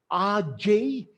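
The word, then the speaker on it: age: an exceptional life and those three words are rj quote this is how it is spelled a g e but pronounced rj q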